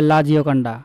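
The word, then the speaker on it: La Joconde: এই কারণে ছবিটির নাম রাখা হয় লা জিওকন্ডা। ফ্রেঞ্চ উচ্চারণে লা জিওকন্ডে।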